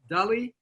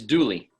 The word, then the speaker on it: Dooley: I could pronounce it is it Dulli it's duly duly sorry all right newly